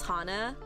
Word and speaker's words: Hannah: to pronounce my name some will catch on and say oh miss Hana I'm and I'm like Oh yay they actually do care about how you pronounce my name but others just default by saying Miss Hannah and I'm like I'm